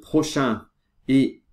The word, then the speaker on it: prochain: qu'ici quand on dit quand on fait la liaison de prochain et épisode on doit changer la prononciation cette prononciation on dit le prochaine épisode on dit prochain mais quand on fait